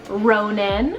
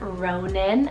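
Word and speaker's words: Ronan: an Old English rooted name meaning Thor's Hill Ronin spell r-o-n-a-n Ronin another one that's always been on my list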